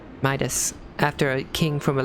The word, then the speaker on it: Midas: meetus oh i think i've been pronouncing your name wrong midas after a king from a legend of eld